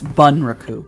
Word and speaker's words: bunraku: recruit is that how you say it it's bunraku b-u-n is okay that you mentioned perhaps something